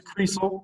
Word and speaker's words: Krysl: Krysl. I tell the kids it's pronounced like diesel.